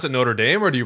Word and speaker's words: Notre Dame: But my thing is, if you're speaking English, you almost kind of take the English pronunciation of things. So like for me, like Notre Dame, right? It's like the Notre Dame football team, right? Like the people who formed it in Notre Dame, Notre Dame football. So I pronounce it Notre Dame. If I'm speaking French, then I say Notre Dame.